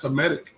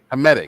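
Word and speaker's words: Hamitic: Hmetic or Headic. How do you say that? That's Hmetic. Hmetic, right?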